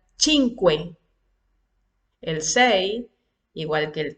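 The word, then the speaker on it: cinque: El cinco se pronuncia chinque, el seis igual que el tres, le quitamos la S al final.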